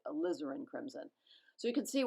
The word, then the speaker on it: alizarin: crimson and ultramarine blue I said a lazarenn I always want to say alizarin I keep saying it wrong I'm determined to get it right alizarin crimson so you can